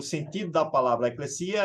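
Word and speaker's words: ἐκκλησία: uma palavra grega que significa ou que se pronuncia eclecia né E que latimizando Alguns chamam de Eclésia mas que o seu sentido lá não era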